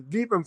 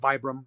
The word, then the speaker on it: Vibram: The Vibram 5 Fingers. Some people call them Vibram, but I think the correct pronunciation is Vibram, French.